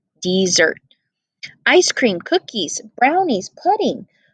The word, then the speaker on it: Mount Desert: island called mount desert she pronounced it dessert ice cream cookies brownies